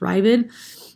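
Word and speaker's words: Raavad: hasagot right the the he's kind of pronounced as riven right the raven was a commentator on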